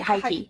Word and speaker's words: Heike: How do I say your name? Hike? Hike? You just said it right, Heike.